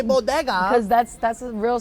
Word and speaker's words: bodega: Why do you say it like that? How you How do you say it? Bodega. Bodega. Bodeas. The bodeas. The bodega. You don't have a Spanish accent in anything else you say.